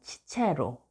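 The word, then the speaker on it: Cicero: 그런데 우리나라 책에는 키케로가 키케로, 로마 발음 치체로, 카이사르가 카이사르, 로마 발음으로는 케사르라고 표기되어 있는데 이 또한 위와 같은 사실과 관련이 있습니다.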